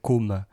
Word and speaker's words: Côme: Et la prononciation pas simple d'ailleurs entre Côme et Comme, si je veux dire comme Côme, c'est un peu c'est pas évident. On va dire que comme le like, c'est plus ouvert, la bouche est plus